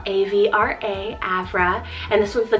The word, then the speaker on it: Avra: Next is the name Avra, spelled A-V-R-A, Avra, and this one's the goddess of breeze and cool air.